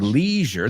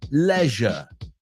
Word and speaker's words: leisure: We took a look at the word leisure. The British pronounce it leisure. Just so you know, if you hear Americans say it, we say leisure. They say leisure.